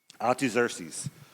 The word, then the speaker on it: Artaxerxes: I wrote it down phonetically too, but it's Artaxerxes.